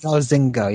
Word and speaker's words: Zynga: Or is that how you pronounce it? Zynga. Zynga, yeah.